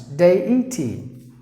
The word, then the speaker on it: deity: Damage, date, debris, debut, decisive, DEITY, DEITY, three sounds, DEITY, delegate, delicious.